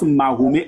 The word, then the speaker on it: Mahomet: Nous ne sommes pas des Arabes, donc on prononce Mahomet en français.